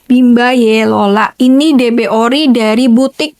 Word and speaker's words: Bimba Y Lola: Tapi, dibacanya Bimba Yelola.